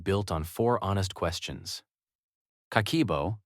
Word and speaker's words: Kakeibo: Kakeibo, pronounced ka-ke-bo, is a Japanese household budget practice that dates to 1904, created by Japan's first female journalist, Hani Motoko.